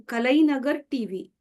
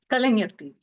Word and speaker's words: Kalaignar: She's completed her MA English Literature, and she is the first female contestant on one of the seasons in Kalainagar TV. Kalaignar TV. What's that? Kalaignar TV.